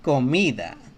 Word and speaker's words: comida: So all the A, O, and U letters, vowels, whenever the C is right next to these three vowels, it always sounds like a K. Canción. Comida.